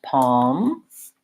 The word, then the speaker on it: palms: more about some other words that have the silent L so we had walk and talk often is between an a and another consonant so for example we had walk and talk we are in the same scenario we have calm and palms we have salmon and in that case